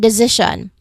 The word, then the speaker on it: decision: Decision. Yeah. Yeah. Decision. There's three syllables and the second syllable is where I stressed it. Decision. Okay. decision. It is right before s i o n.